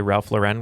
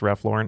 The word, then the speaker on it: Ralph Lauren: someone can't afford Ralph Lauren if they say Ralph Lauren because it's pronounced Ralph Lauren anyway I thought it was funny because I was like oh for years I pronounced It Ralph luren go figure all right after the swing round